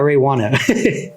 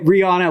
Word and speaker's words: Reijuana: So Reijuana's name is not Reijuana. It's Reijuana, but it's just spelled like Reijuana.